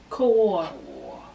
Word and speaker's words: Kaur: We are looking at how to pronounce this name. Kaur.